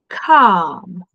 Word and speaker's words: calm: Come. Nie słyszymy tego e. Nie wymawiamy, bo come.